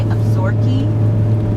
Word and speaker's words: Absaroka: Now the Absaroka is spelled A-B-S-A-R-O-K-A. And it's the Crow Indian name for themselves. So a lot of people say Absaroka. Some people say Absorki, like 2 E's on the end, even though it's not spelled that way.